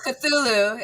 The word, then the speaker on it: Cthulhu: It's Cthulhu. If I hear anyone saying Cthulhu, you're banned from the fucking chat.